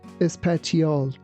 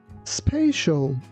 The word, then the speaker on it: spatial: You be careful that we don't say espatial. We say spial. Spatial.